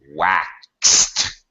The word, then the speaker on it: waxed: Washed, after the SH voiceless T, and waxed. Wax. Yes, it's a K sound, an S sound, and then a T sound.